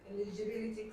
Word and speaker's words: eligibility: The accent is on B.